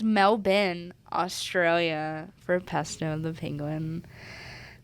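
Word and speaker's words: Melbourne: all the way to melburn I think it's pronounced melbin Australia for pesto the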